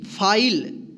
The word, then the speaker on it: file: FILE, फाइल, इसको फीले नहीं पढ़ेंगे।